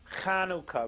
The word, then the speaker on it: Chanukah: people are familiar with konoka really it's not Chanukah with an H sound many people can't pronounce it because they're not used to it in English of course it's not